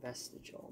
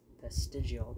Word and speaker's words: vestigial: Kept saying vestigial, but it's vestigial. There's another I.